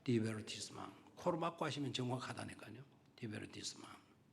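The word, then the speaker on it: divertissement: 디베르티스망. D-I-V-E-R-T-I-S-S-M-E-A-N. 그래서 영어로는 T처럼 메인이라고 읽어야 될 것 같은데 불어는 그 메인이라고 읽지 않고 망으로 읽는다 그래요.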